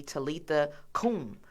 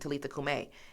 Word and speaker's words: Talitha Kum: So my parents chose to name me Talitha Kum, but we pronounce it Talitha Kume.